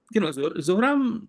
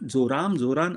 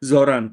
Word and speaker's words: Zohran: And Zohram was not Zohran. I keep saying the name wrong. Zohran.